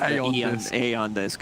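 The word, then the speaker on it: Aeon Disk: Yeah, Eon 730, Eon Disc removed from the game, Eon Disc pronounced Aeon Disc.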